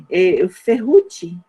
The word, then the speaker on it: Ferrucci: Ferrucci, assim que pronuncia?